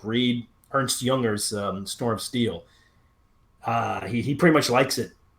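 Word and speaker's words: Aytch: of war Sam Watkins his company I and I say I say H that way because it's spelled company ayt CH because he wants you to pronounce H like a Confederate would owe company H so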